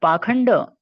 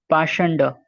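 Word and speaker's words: pākhaṇḍa: Purport: The word Pakhanda used in this verse is sometimes pronounced Pashanda.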